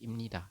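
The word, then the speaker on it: 입니다: m Ini adalah cara bacanya teman-teman maka anda membacanya adalah Im atau biasanya lebih cepat jadi imnita seperti itu teman-teman ya Saya rasa bisa dipahami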